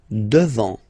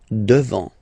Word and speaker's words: devant: Devant, final T not pronounced. Devant. Devant.